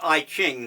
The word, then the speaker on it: I Ching: the Book of Changes, it was pronounced I Ching, though today people pronounce it differently.